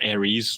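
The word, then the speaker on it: Aeris: called arys yeah and I always pronounced Aries like the zodiac sign so like some of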